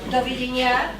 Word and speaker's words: dovidenia: And doviděnia.